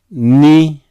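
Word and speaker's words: Ν: Ni is like English N, very easy.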